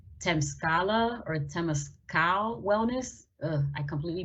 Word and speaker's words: Temescal: The quick last one that I have, and I don't know if I'm pronouncing this right, but it's Temescal or Temescal Wellness. I completely butchered that. It's Temescal.